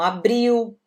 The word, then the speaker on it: abril: Então, março, abril, o L no final de palavras em português tem som de U também. Então, abril, maio, junho.